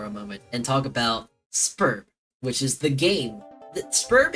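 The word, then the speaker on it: Sburb: They pronounce it Spurb.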